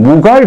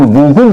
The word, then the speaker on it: 무굴: 여러분 제가 학교에 다닐 때는 무갈 제국이라고 배웠는데 요새 발음을 무굴 제국이라고 합니다.